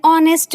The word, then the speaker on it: honest: Second example, he is an honest man. Here also the word honest start with a silent H, but when we are pronouncing it, we are getting O sound, which is a vowel sound.